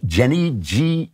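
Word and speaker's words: Jenae: I'm not going to answer it here, but I just want to mention it's from a lady named, I believe it's pronounced Jenny, J-E-N-A-E, but I'm going to call her Jen because I don't want to keep mispronouncing her name.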